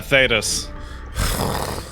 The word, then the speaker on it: Thedas: Is there a right way to say it when it's that fucking terrible? Yeah, Thedas. Right.